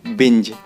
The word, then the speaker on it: binge: अगले वर्ड की तरफ बढ़ते हैं गाइस और अगला वर्ड है हमारा बिंज और इसकी राइट प्रोनाउंसिएशन होती है BING, बिंज।